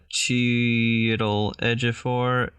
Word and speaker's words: Chiwetel Ejiofor: I've got the whole, like, pronunciation of it. Chiwetel Ejiofor.